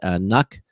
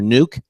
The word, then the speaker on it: NUC: Compute Stick and the Mini PC NUC, or Nuke, depending on how you pronounce it.